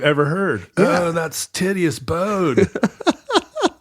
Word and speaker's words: Titius: I believe Titius is the right pronunciation of Johann Daniel Titius's name. It's not Titius. I don't believe so. Here's the deal. He's German, and his name is actually something like Tietze, I think.